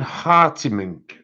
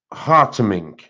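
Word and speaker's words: Hartemink: Oh, Caroline Hartimink, I think that's how you pronounce it. This is the image. It was done with chameleon markers. And I think it's pronounced Hartimink, which is H-A-R-T-E-M-I-N-K.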